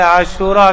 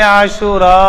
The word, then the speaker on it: عاشورہ: 10 محرم الحرام کا۔ پہلے تو اس کا تلفظ بھی ہمارے ہاں کمزور بولا جاتا ہے، عاشورہ کہہ دیتے ہیں، یہ غلط تلفظ ہے۔ یہ الف ممدودہ کے ساتھ ہے عاشورہ، اگر بولیں تو ٹھیک